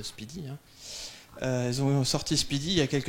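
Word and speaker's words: SPDY: Et puis Google trouvait ça un petit peu old school et lent, alors ils ont sorti Speedy, ça se prononce Speedy, hein.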